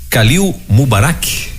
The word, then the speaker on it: Khalil Mubarak: conversando ou vamos conversar com o nosso querido Kalil mubarak é assim mesmo a pronúncia Bom dia tudo bem Bom dia Exatamente